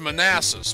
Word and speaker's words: Manassas: you have a it's pronounced manassas but if you look at the way it's spelled it spells man asses when you go across